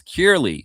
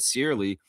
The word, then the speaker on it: Curley: It's Curley. It has its pronunciation. I said Searly.